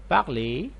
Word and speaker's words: parle: with il and elle, and these three endings are like silent. We don't pronounce them clear in a clear way.